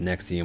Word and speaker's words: NXIVM: you can see here as I stated earlier pronounced nexium with that 86 connections